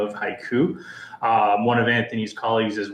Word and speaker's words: HYCU: Is it HYCU? The company's pronounced haiku and we stand for hybrid cloud uptime.